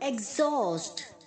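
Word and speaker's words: exhaust: आगे जो एक्स है वो जी की तरह और जो ह है वो स की तरफ प्रनंसे होगा एग्जास्ट okay axle x heal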